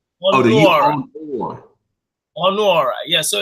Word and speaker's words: Ọnuọra: I said the A is silent, I guess. No. Ọnuọra. So it's Ọnuọra. Ọnuọra.